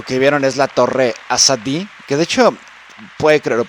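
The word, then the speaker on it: Azadi: de hecho puude cre lo pronuncie mal también significa es un nombre común en Irán persa y pero lo correcto sería asad como remarcar mucho las vocales las dos as y hoy quiere decir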